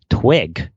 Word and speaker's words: TWIG: Instead, I'd like to offer you an idea for another TWiC series, This Week in Global Health, TWIG, which you could pronounce like twig, T-W-I-G-H.